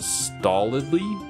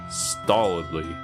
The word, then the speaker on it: stolidly: flow of waste I think stolidly is pronounced like solidly but with a t sound in the appropriate place Sol stolidly stolidly okay yeah it's a